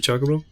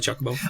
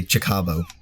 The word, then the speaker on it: Chocobo: I was saying wrong it's probably Chocobo oh yeah you know what I used to say man okay I actually have a lot of examples pronouncing things incorrectly when I was younger but uh I used to say chabo chabo chabo yo let's get the chabo I need a